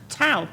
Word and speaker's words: Tow: TOW. TOW. TOW, no, we won't remove your car. and we rhyme with cow, which is, in fact, we used to have TOW cow, which has gone missing, but anyway.